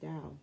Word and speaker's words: Tao: it's pronounced Tao.